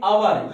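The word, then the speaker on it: honour: अब इसको पढ़ो, क्या लिखा है, ऑनर, ए साइलेंट है, क्या पढ़ते हैं, अवर, ये अवर है, सॉरी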